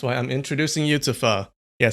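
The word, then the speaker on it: phở: That's why I'm introducing you to fur. Yeah, some people pronounce it fo or po.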